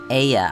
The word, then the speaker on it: Ea: still required to convey our thoughts and intention Aya I believe was the pronunciation used when referring to our people though